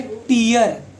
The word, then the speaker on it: tear: एक होता है टीयर, स्पेलिंग दोनों की सेम है। टीयर मतलब आंसू, और टेयर मतलब फाड़ना, उसको टीयर नहीं बोलते।